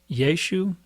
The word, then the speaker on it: Yeshu: But people in Galilee pronounce things differently, and there is pretty good scholarship that indicates that they would not have pronounced the little A on the end. So whereas many people think it's Yeshua or Yeshua, they probably pronounced Yeshu.